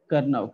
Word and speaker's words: Karnaugh: है वो क्या है, करनाऊ, के ए आर एन ए यू जी एच, करनाऊ मैप.